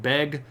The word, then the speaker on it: Beg: he's named sjuk B and I know that looks like the word beg but again you don't make the hard G sound in that situation it's more like a extended vowel so it's not B it's B and B is actually